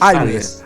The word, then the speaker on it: Alvez: No, Alves. Sí, Alves.